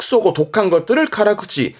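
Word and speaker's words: 辛口: 이렇게 쓰면 발음은 카라쿠치, 카라쿠치는 매운맛.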